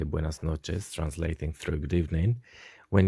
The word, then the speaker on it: noches: say buenas noches buenas noches noches what you could see is that we have got ch which is pronounced like in english when we say for example children child so buenos noches this